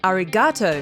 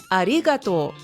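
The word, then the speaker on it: ありがとう: you is arato again foreigners usually stress the G and say arigato AR but putting the emphasis on the second syllable Arigato will make you sound perfect you say AR like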